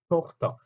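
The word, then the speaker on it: Tochter: 그런데 얘 같은 경우는 자, 발음 토흐터거든요. 토흐터.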